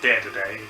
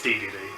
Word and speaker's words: Dedede: Knight and King Dedede I've had some people pronounce it dead today but I think it's DVD so I'll go with that all right let's do